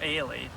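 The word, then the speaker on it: Holley: that john uh uh holly h-o-l-l-e-y but it's pronounced ailee and i got pictures of him of the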